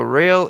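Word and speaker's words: Roehl: Yeah, he's he's saying about inter modal, but it's pronounced rail, but it's spelled R O E H L. I understand what I got you now, Rick. Thanks. Company out of Wisconsin land. Real, there you got it.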